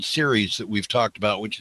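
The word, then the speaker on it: Ceres: support on this from a an organization called series that we've talked about which is in boston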